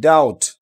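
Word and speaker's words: doubt: এরপর দেখেন ডি ও ইউ বিটি ডাউট।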